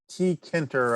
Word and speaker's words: Tkinter: the python distribution is t kenter i think that's how you pronounce it t e t-k-i-n-t-e-r um it's been around